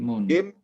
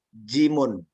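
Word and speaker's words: جيم: Jim di dalam penyebutan mukhatta'ah ya seperti itu, jim. Namun secara penyebutan hija ya atau pengejaannya adalah jimun.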